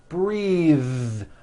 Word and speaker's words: breathe: suit breathe same thing breath is a noun take a breath unvoiced but when you change it into a verb the vowel changes and it becomes breathe I am breathing with a voiced th now let's do some